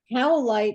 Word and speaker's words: Howlite: Howlite in your pocket makes people be nice to you. How do you spell that? Let me write this down. Oh my gosh. Howlite. It's like you're howling.